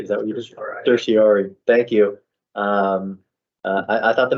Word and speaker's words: certiorari: Certiorari.